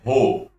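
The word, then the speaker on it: ρ: letrinha grega aqui ó a pronúncia dela é ro vou deixar você um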